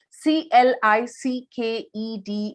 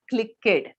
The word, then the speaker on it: clicked: when i say pronunciation c l i c k e d is pronounced as clicked not click kid okay so that is